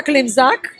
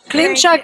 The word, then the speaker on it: Klimczak: Klimczak. Klimczak in Polish, but Klimczak in English, much easier to pronounce.